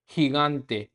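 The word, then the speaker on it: gigante: अब इसमें आप देखोगे हिगांते में जी के बाद में फर्स्ट जी के बाद में आई है इसलिए हम इसको है की साउंड से पढ़ रहे हैं, हिगांते। लेकिन सेकंड वाले जी को हम गे की साउंड बोल रहे हैं क्योंकि उसके जस्ट पीछे ए है तो हिगांते, हिगांते।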